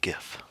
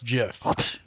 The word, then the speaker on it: GIF: is right as all soft G soft G okay Jeff and I think she's saying that the originator of that name is Steve we'll Wilhite and she says Steve says Jeff not gif really I thought you